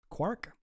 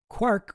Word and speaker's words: quark: Um quark was clearly intended to rhyme with mark as well as bark.